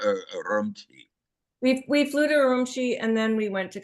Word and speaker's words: Urumqi: The most expensive thing was flying from Beijing to Umrishki. I'm saying it wrong. And that was Kashgar or Urumqi. We flew to Urumqi and then we went to Kashgar from there.